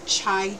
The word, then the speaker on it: chai: And then I'm going to have a special recipe too that I love, which is chai tea. It's so good. It's like spelled like Thai.